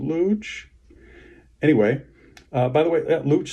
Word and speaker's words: Looch: We can also maybe get a sense of why he wanted to be called Looch, because his Uncle Cooch rhymes with Looch.